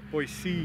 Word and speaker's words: Boise: Boise Boys uh commenting Boise Boise you got to say it right otherwise they know you're not from in oh when you go